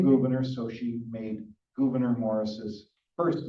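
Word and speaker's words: Gouverneur: The Committee of Style then headed by Governor Morris. A lot of people pronounce it governor. That's not the way you pronounce that. He has the name Gvenor because that was his mother's surname.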